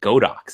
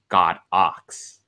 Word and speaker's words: Godox: the way fun fact it's not go docks it's actually pronounced God ox okay we're done here